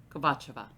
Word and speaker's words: Kovatcheva: I looked up how to pronounce this name. I did. I got like 3 different answers. I'm going with Kovatcheva.